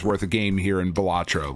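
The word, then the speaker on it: Balatro: Jester or buffoon so a joker card it's batro okay it's really awesome like it's just a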